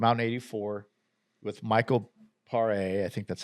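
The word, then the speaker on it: Paré: in '84 with Michael Pare. I think that's how you say it. It's Pare with the little thing above the E.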